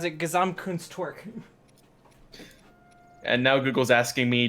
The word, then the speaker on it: Gesamtkunstwerk: I also prefer to pronounce it Gesamtkunstwerk.